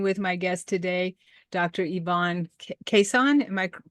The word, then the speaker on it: Yvonne Kason: to be speaking with my guest today Dr Ivon quesan am I pronouncing that correctly yep that's just fine thank